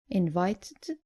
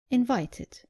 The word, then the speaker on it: invited: The less common mistake is not pronouncing the id clearly at the end of verbs ending in t or d. Just make sure you pronounce the e clearly. So, not invited, but invited. And not demanded, but demanded.